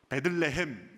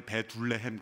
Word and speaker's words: 베들레헴: 베들레헴, 여기서 히브리어로 두 단어가 합성된 것입니다.